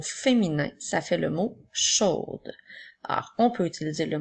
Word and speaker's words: chaud: Alors, nous avons tout d'abord le son « ch » et le son « o » qui s'écrit A-U-D. Encore une fois, la lettre D est une lettre muette puisqu'il n'y a pas la lettre E après pour la faire chanter.